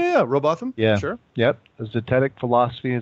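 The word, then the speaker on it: Rowbotham: Am I pronouncing that right? Yeah, Robotham.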